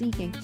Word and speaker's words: eking: Um, Alexa, what is eeking? Um, it is pronounced eeking. Yeah, even though there's one e, it is a long vowel sound.